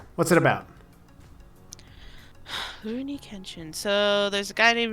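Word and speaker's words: Rurouni Kenshin: oh say it again rooney kenshin rooney kenshin rooney kitchen there you go you have to trail you have to trail your r's that's why um so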